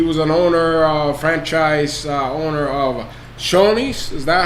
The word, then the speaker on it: Shoney's: He was an franchise owner of Shoney's. Is that how you pronounce it? Yeah, Shoney's.